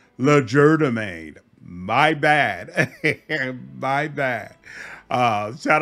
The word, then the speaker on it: Legerdemain: However, I still maintain my absolute love of Rain's Legerdemain. Apparently, I was pronouncing it wrong. I think about a dozen people popped up into the comments and said, it is pronounced Legerdemain.